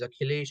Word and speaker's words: Akhilesh: So I started like, yeah, so my name is Akhilesh, and it's pronounced as Hiles.